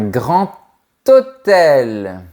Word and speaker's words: grand hôtel: La bonne réponse est : un grand hôtel. Oui ! Attention ! La lettre "D" du mot "grand" se prononce comme un "T" quand on fait la liaison avec le nom qui suit.